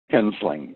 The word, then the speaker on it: Hensling: Hensling. H-E-N-S-L-I-N-G. I was so close. I missed one syllable.